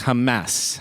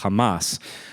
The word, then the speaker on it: Hamas: uh Hamas and you're hearing lots of different pronunciations I've noticed on the news um in Arabic it's Hamas Hamas the a sound is is common in